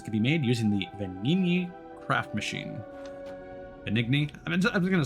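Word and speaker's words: Venigni: Oh, so it is Benigni. Okay. See, I assumed that that is what it would be pronounced, but I'm like, I don't want to offend any.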